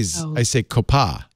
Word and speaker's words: COPPA: I say COPPA. I go, Copa Cabana.